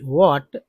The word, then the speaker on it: what: Situation which in which वॉट में एच जो है साइलेंट होता है, क्या है, साइलेंट लेटर है वॉट में, कोई भी डब्ल्यू एच क्वेश्चन में।